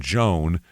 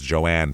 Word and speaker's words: Joan: So this place, there's a woman named Joan, which everyone pronounces as Joanne for some reason.